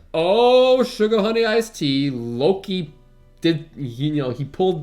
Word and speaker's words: Loki: the arse so and just as that's happening Loki I said it right this time you did